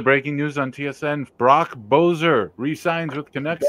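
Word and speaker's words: Boeser: Brock Bozer re-signs with Canucks 7 years, $7.25 million a year. He's American. You gotta say his name right. Besser.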